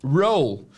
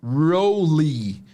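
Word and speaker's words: role: A pronúncia é r inglês e esse e do final é mudo, tá? Roll. Um erro muito comum de pronúncia de nós brasileiros é pronunciarmos esse e final.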